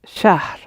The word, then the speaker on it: شهر: It's a little unfamiliar to the English mouth, English-speaking mouth, to put h in the middle of a word. But it is pronounced, so it's shahr. H, r at the end.